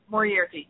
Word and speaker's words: Moriarty: Moriarty, yeah, that's correct.